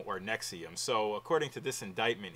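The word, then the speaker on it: NXIVM: running again s NX IV m and it's pronounced nexium and some of the things that I found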